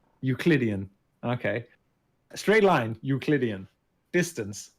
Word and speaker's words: Euclidean: Euclidean. Euclidean.